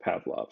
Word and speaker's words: PVLV: And then the name here, if you put them the other way, PVLV is pronounced Pavlov.